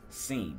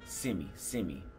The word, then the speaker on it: sim: Or the word yes is sim. He would say simi. No, he would say sim. That's not right.